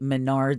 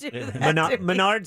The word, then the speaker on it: Menards: subsequently suspended die indefinitely wow from the arca menards series come on now bye-bye hold on now